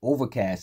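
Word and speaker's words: Ovrkast: in 2023 that album dropped next artist is overcast and it's spelled OV v r k a s t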